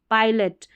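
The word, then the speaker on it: pilot: जैसे यहाँ पर देखिए पाई, पाइलट, पायलट, तो PI है, इसमें जो है इसको ब्रेक किया तो पहले PI वाला हिस्सा बना और फिर LOT बना, ठीक है, तो पाई पढ़ेंगे, PI को पी नहीं पढ़ना है।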